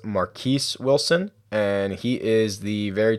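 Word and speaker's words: Marquess Wilson: And the other guy is, I believe his name is pronounced Marquise Wilson, and he is the very talented wide receiver who will be starting in place of Brandon Marshall today.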